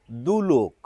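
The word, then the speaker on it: দ্যুলোক: শব্দটির উচ্চারণ দুলোক। অর্থাৎ এই জফলাটি যদি বাদ দেন তাহলে যেরকম উচ্চারণ দাঁড়ায় সেই রকমই উচ্চারণ কিন্তু এখানে হবে।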